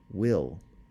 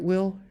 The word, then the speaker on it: Will: that I thought drowsily it was my name but pronounced in the English fashion not with the initial V to which I had grown accustomed since we had been speaking German well was I dead